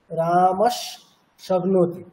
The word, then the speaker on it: রামঃ শক্নোতি: এবার সন্ধি করে উচ্চারণ করলে তার স্পেলিংটা কেমন সেটা ওখানে লেখা আছে, লেখা ছিল রামস শক্নোতি। তাহলে আমাদেরকে উচ্চারণ করতে হবে কোনটা? ওইটি, রামস শক্নোতি, এরকম।